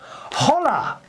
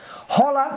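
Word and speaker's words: hola: to Morin in Spain holla although Morin says holla Christopher and then she puts in Spain in Spain we don't pronounce the ha so it's h thank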